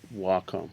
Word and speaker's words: Wacom: the way, it's pronounced Wacom.